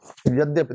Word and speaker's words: यद्यपि: आपको मैं बहुत बार, ये धा नहीं है, दा और या है, यानी इसका मतलब दा आधा है और या पूरा है।